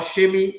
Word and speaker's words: Semi: Or Shemi, you can say his name is not Semi.